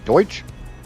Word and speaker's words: Deutsch: And honestly, we we had this discussion yesterday about me not knowing how to say German in German, which I guess it was uh Deutsch.